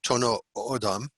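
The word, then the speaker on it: Tohono O'odham: They're now known as I believe it's pronounced Tono Odam, and that was a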